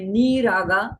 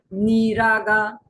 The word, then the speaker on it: नीरागा: तो इसलिए निष्कारणा निष्कलंका ये सारे रस्व में है, लेकिन ये नीरागा तो बोलते वक्त भी हमें जब उच्चारण करते हैं तो निष्कारणा निष्कलंका निरुपाधिर निरीश्वरा, तो रीश्वरा, और नीरागा तो दीर्घ बोलना है।